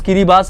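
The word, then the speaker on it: Kiribati: country है वो है किरी बास यस इसका प्रोनाउंस किरी बास है किरी बास एक कंट्री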